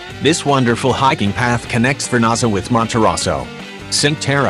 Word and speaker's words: Cinque Terre: Cinque Terre (uitgesproken als CHINKweh TAYreh) is een groep van vijf nederzettingen aan de Ligurische kust in Noordwest-Italië.